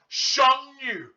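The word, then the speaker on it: 剩女: Because in Chinese, when you have to pronounce, this sound goes down and then it goes up. So you have to say Sheng Yu.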